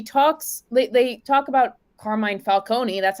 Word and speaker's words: Carmine Falcone: interesting because he talks late they talk about carmine falcone that's how you pronounce it carmine falcone they talk about how he's kind of responsible